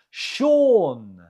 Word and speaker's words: Sean: The stress is on the first syllable. Imogen. Number 2 now. How do you say it? Sean.